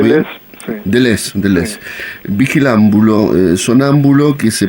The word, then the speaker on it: Deleuze: ¿Estoy pronunciando bien? sí. Deleuze.